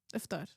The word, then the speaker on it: iftar: Oh, iftar. Okay, I pronounced that.